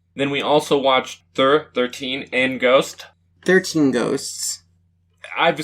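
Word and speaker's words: Thir13en: then we also watched thur 13 and ghost 13 ghosts i've seen the title it's spelled t-h-i-r 13 e-n that's thur 13 in but it's a good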